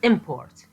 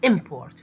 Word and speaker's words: import: important when the word import is pronounced with the first syllable sounding stronger than the second English speakers hear it as a noun so the same word import if pronounced as import with with stress or